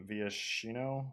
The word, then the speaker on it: Viashino: a true Dragon he's a viashino that's how you say it but uh this guy's